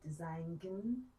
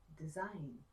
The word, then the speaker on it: design: Don't say design, say design.